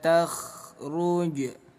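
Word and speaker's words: تخرج: Huruf kha memiliki sifat rokhwah, artinya mengalir ya. Jadi jangan sampai dipantulkan nggak ada pantulan dalam huruf kha ya. Jangan ada kh, hindari pengucapan takhru takhrujba. Jim sukun di tengah bacaan disebutnya qalqalah sugro. Qalqalah artinya pantul, sugro artinya kecil. Jadi pantulkan bunyi jim kecil sedikit. Takhruj, hukum qalqalah.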